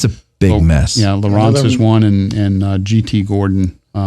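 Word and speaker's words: Lowrance: Is it Lawrence or Lawrence? I always pronounce it Lawrence. Where's he from? He's from North Carolina. Yeah. Yeah. No, it's just Lawrence. Lawrence. Yeah, it's LOW.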